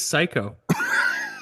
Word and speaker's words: Cayko: It is Cayko.